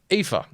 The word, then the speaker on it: Aoife: I had gone to school with an Aoife, so I know how Aoife is pronounced, luckily.